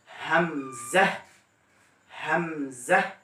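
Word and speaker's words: همزة: এরপর হামজা, একই ক্ষেত্রে, অর্থাৎ কণ্ঠনালীর শুরু থেকে হামজা, হামজা।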